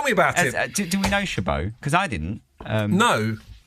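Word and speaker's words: Chabaud: it sort it sort how do you spell it c h a b a u d shab okay shab shab shab it it sort of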